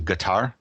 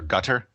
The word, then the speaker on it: Qatar: I think the actually the regional dialect does pronounce the first syllable as like a g so it's actually guar or closer to that or gutter but Kar is what they say